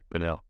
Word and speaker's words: Pinal: And again, it was Matthew Thomas out of, is it pronounced Pinal? Yeah, Pinal.